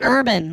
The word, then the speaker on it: Irvin: name no no no I said Urban like you are I know you you pronounced it correctly I appreciate that well I said oh whatever it came